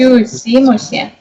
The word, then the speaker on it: küsimusi: Küsimusi ei ole. Опять ударение неправильно. Küsimusi. О, Теперь правильно.